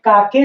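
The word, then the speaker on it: cake: ये काके नहीं पढ़ेंगे, केक। क्यों, सी से क, ए से आ की मात्रा हो गई का, और ये के से क और इसे ए की मात्रा का के, नहीं, ऐसा नहीं पढ़ना है। क्यों नहीं पढ़ना है, क्योंकि लास्ट में जो ई आता है अपना अस्तित्व समाप्त कर देता है और उसके पहले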